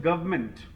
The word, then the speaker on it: government: This is गवर्नमेंट, गवर्नमेंट. अब ये जो ERN है ये साइलेंट रहता है.